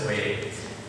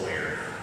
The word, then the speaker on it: Boyer: a guy named Ernest Boyer, although he pronounces it Boyer, American pronunciation, but it's Boyer.